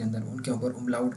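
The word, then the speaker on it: Umlaut: तो पहले हमने इसको आ पढ़ा था, इसके ऊपर ये दो नुक्ते लग जाएं, इसको कहते हैं उमलाउट। मैं इसको स्पेलिंग लिखता हूँ, इसको हम कहते हैं उमलाउट।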